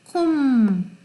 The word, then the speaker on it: comb: 문장의 뒤에 올 때 climb, comb, thumb, bum 이거 없어요. climb 이거 있으나 없으나 마찬가지예요. 발음이 climb, comb, the come 할 때 그렇잖아요. 근데 그때 come이라고 안 하고 여기서는 comb이라고 발음되죠. comb, thumb, bum, big business, big business, big business.